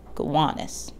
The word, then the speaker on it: Gowanus: the namesake it's pronounced gowanus with an emphasis on the middle syllable gowanus today is synonymous with